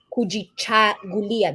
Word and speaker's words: Kujichagulia: must come together as such then you have kujichagulia and it's pronounced kui chaulia that sound in kahili is cha not K